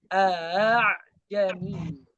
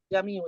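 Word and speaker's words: أعجمي: Contoh pada kata a'jamiyu. Jangan dibaca a'jamiyu, jangan dibaca salah. Tapi di antara hamzah dan mad. A'jamiyu. A'jamiyu. A'jamiyu. Sampai sini paham? Nggak boleh dibaca langsung jamiu, salah. Atau salah. Yang betul jami.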